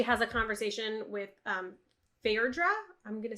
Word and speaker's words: Phaedra: first wedding she has a conversation with um Fair draw I'm gonna say that's how you pronounce her name yeah um in the audiobook they said Phaedra Phaedra okay thank you thank you and thank you